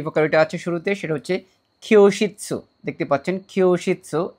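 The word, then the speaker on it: きょうしつ: এখানে যে ভোকাবুলারিটা আছে শুরুতে সেটা হচ্ছে খিয়োশিৎসু, দেখতে পাচ্ছেন খিয়োশিৎসু, এটা যুক্তবর্ণের খিও আর উশিৎসু, আমরা দুই ভাগে এটাকে ভাগ করে প্রোনাউন্সিয়েশন করার চেষ্টা করব।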